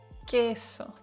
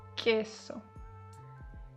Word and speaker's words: queso: Always follow it by u e or u ii like queso and uh it sounds like a k queso. Okay. The u is silent so it's like queso.